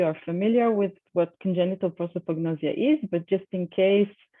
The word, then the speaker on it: prosopagnosia: a career for someone who suffers from from prosopagnosis so let me just play this short video